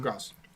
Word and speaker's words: Graz: That's pronounced Graz, Yeah. right? Yep, Gross.